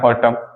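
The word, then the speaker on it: autumn: निंदा करना ठीक है नेक्स्ट हो जाएगा हमारा ऑटम टब एक मौसम सीजन होता है हमारा पछड़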